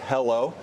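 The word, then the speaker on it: HELO: ticker wait for it is h-e-l-o pronounced hello so we've got cardboard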